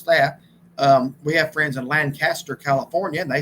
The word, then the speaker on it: Lancaster: I have to keep that straight because we've been in Lancaster, Pennsylvania, and I had to learn how to pronounce that. We have friends in Lancaster, California, and they say it Lancaster.